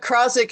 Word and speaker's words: Krozik: But Krozik is the way you pronounce it, right?